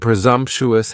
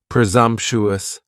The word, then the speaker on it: presumptuous: task next is presumptuous and presumptuous has four syllables and the stress is on that second syllable and the S almost sounds a little more like a z presumptuous presumptuous if somebody is being presumptuous